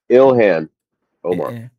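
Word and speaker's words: Ilhan Omar: Ilhan. Omar.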